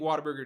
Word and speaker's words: Whataburger: plenty of Whataburger also people say Whataburger like Whataburger it's it's supposed to be pronounced what a burger it just comes out Whataburger so I think partly